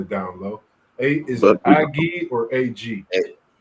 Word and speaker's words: Aggie: A is it Aggie or AG? Well, his name's Ag, but we pronounced it Aggie.